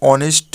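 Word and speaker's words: honest: पे ए एन लगेगा second में भी ऑनेस्ट है मतलब एच यहां पे साइलेंट रहता है तो इसके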